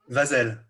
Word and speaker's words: Vazel: Vazel? Vazel.